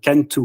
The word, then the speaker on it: Cantoo: Ah oui, alors pour l'écriture, enfin l'orthographe de Cantu, ça s'écrit Cantu en fait, C-A-N-T-O-O.